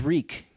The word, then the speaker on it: Reek: And he's just saying shit, stuff like, oh, my name is Reek. It rhymes with peak. It rhymes with leak.